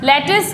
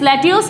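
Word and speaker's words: lettuce: next है, लेटिस, लेट्यूस, इसको क्या बोलते हैं, लेट्यूस, लेट्यूस वर्ड नहीं होता, इसको बोलते हैं हम लेटिस, एक ये सलाद टाइप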